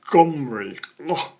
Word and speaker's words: Omri: Omri is spelt like that in Hebrew, and you have a letter at the start of the name that's sort of like a G, but not pronounced. So it should also be pronounced Gomri. It's this sort of guttural sound, almost not spoken.